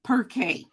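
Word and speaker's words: Pirkei: Pronounced Perkay.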